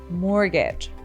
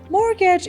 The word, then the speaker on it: mortgage: Mor morgage of course in written form of it there's a t but we don't pronounce it mortgage mortgage is another type of